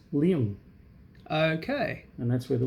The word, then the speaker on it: Luong: tail, when it's taken, the Mandarin sign for tail is pronounced Luong.